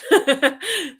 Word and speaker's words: Dunedin: And this is northwest of uh I don't know how to say it, Dunedin? Near Middlemarch. Dunedin.